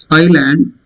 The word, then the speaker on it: island: This is island. Sri Lanka is an island, not Iceland. S is silent.